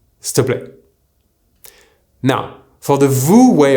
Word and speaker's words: s'il te plaît: The correct way to say please using tu is s'il te plaît. Now, what happens when we speak is that you'll often hear s'il te plaît.